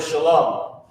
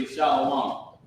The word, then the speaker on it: Shalom: someone's breath or it's like the word Shalom like people mess up this word and say shalawam right they mess up and say shal comes from this root word Shalom this is not how